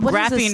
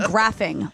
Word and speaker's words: graphene: silk suppes ill after eating carbon nanotubes and graphene and graphic I did not realize that they had been doing this for a while I don't know what buddy to graphene is it is a it's it's a lot